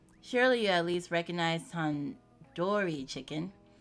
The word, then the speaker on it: tandoori: Surely you at least recognize tandoori chicken. You're saying it wrong. Wait, really? Tandoori? Tandoori. The do isn't like indoor. It's like do head.